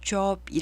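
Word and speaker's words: Job: 사람 이름이 그 웨어 영어로는 조업이 라고 발음합니다 영어 스펠링은 직업을 뜻하는 쫘 앞과 같지만 발음은 다르게 읽는 다는 것도 상식적으로 알아 2시고요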